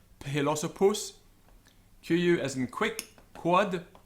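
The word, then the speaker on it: philosophus: PH as in uphill, so it's aspirated, philosopus.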